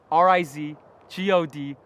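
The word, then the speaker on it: RizGod: R I Z G O D.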